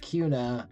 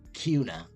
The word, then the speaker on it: Kuna: And it's pronounced Kuna, I know, because I'm not from Idaho.